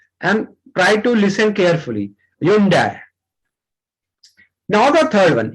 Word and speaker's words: Hyundai: Hyundai. Hyundai. The real pronunciation of this is Hyundai. H should be silent.